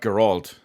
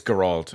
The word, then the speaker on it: Geralt: above that we've got Gerald from The Witcher 3. I believe I pronounced that correctly I'm pretty sure it's Gerald and not geralt we got Master Chief